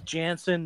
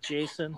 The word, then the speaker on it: Jansen: And the guy's name's Jansen, not Jason.